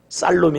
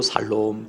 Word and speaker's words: 살롬: 살롬 아까도 살롬 하더만 발음을 잘못하면 이상한 요기 됩니다 다시 옆사람 복을 살롬 다시 한국말로 평안하세요 유대인들은 말라 이때 마더 살롬 살롬 살롬 쌀로 미 아니고 살롬 살롬 평안하세요 평할 쇼 왜